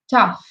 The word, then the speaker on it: tough: So I would like to point out the pronunciation of the word tough. GH is often pronounced with an F, as an F.